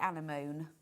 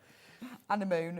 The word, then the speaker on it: anemone: The only way I can remember how to pronounce it is to say anemone, and then you get the M's and the N's in the right way. Yeah. Anemone and then anemone.